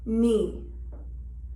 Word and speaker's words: knee: K is silent at the beginning of a word or syllable when followed by an N. Knee.